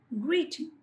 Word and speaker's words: greeting: సో in this word గ్రీటింగ్ the first syllable greeting. So when you observe the first syllable, I have expressed it with a breath force ఎక్కువ ఉపయోగించాను, emphasis ఉపయోగించాను, greeting.